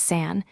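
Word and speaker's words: 산: The second is san meaning mountain ending in a clean and the third is the important one.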